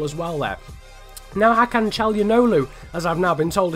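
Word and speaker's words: Çalhanoğlu: Now Hakan Calhanoglu, as I've now been told his name is pronounced, is going to give it out wide there to Roberts.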